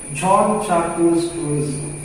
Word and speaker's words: Jean-Jacques Rousseau: It's a French name, so we have to pronounce in French language. Jean-Jacques Rousseau.